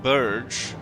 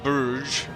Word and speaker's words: Bruges: try and siege and retake Bruges, or Bruges, however you want to pronounce it.